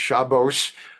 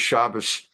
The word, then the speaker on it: Shabbos: The mystery I won't leave hanging is his name is not pronounced Shabbos. Obviously, it's not Greek. The name is Shabbos, the Ashkenazic pronunciation.